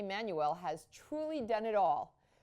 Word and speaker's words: Manuel: terrible um and uh it's a South African last name it's not a Spanish which is manual or man Manuel is a Spanish first or middle name so I pronounce it Manuel which is a South